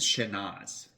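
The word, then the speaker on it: Chénas: sh yeah you you you keep the s a little silent but not totally silent right like this this area pronounces the last s a little bit right a little bit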